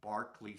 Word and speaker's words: Berkeley: sang in Barkley Square it's spelled Berkeley like Berkeley the university in California but on the recordings they say Barkley so maybe in British you're supposed to say that particular place as Barkley Square um some of the